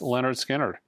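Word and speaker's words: Lynyrd Skynyrd: analog Productions 45 RPM of Leonard skinnard pronounced Leonard skinnard uh also on my top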